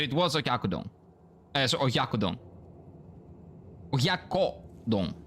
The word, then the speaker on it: oyakodon: Oyakodon. Sorry, not okyakudon. It's oyakodon. I always mispronounce it. I don't know why. I always mispronounce it. And it's nothing like... There's no k sound in there.